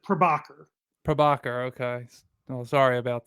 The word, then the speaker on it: Prabhakar: close enough it uh it's usually pronounced well it's usually mispronounced but uh my parents try to have me pronounce it prabhakar prabhakar okay oh sorry